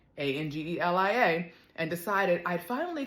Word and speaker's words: Angelia: called what's my name my name is spelled Angelia it's spelled a NG g e l i a but it's pronounced Angeli it happens to mean messenger